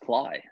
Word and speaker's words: Klay: is pretty cool everyone say hello to phil clay how are you phil i'm doing well doing very well uh i'm still applying actually what's this it's pronounced cly there it is and that's the first correction